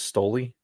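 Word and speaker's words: Stolichnaya: fake russian vodka okay heard of stellichnia i have not stoley you've heard it maybe pronounced as stoli no stalichnia is better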